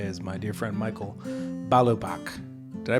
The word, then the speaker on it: Balubach: My luminary guest today is my dear friend Michael Balobach. Did I pronounce that correctly? Yeah. Oh, good. Yes. Balobach.